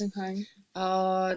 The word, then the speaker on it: Geisenheim: Is it Geisenheim? Yes. Did I say it right? Yes. Geisenheim.